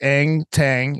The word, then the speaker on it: Eng Taing: So listeners, it's Eng Taing, and it's ENGTAIGN.